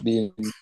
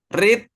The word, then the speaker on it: read: red red red red tulisannya sama tapi bacanya beda ya read red red red red red kalau orang baca read berarti itu verb 1 tapi kalau orang baca red itu bisa verb 2 dan juga bisa verb 3 itu anehnya bahasa Inggris